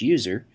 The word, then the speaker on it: usr: by the system administrator slash usr often pronounced slash user which contains software that